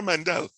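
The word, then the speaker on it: Mendel: unquote father of genetics his name begins with m and it rhymes with zandel he was a monk and his name was gregor yes yeah gregor mandel now oftentimes people say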